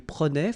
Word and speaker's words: prenait: Je prenais, tu prenais, il prenait, final T not pronounced.